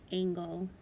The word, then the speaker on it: angle: on angle and angel angel has a soft g followed by the e l angle has the hard g followed by the l e so those obviously have